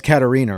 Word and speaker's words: Catarina: Well, Katarina, it's Katarina, right?